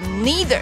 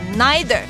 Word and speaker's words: neither: 的字，这个字叫做 neither，或者是也有可能会念成 neither，这个字的拼法是 N-E-I-T-H-E-R， neither 或 neither。